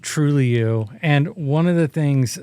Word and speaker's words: Trulioo: Yes, that's pronounced Trulioo.